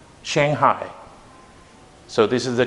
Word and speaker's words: Shanghai: The correct pronunciation for this is Shanghai. Shanghai.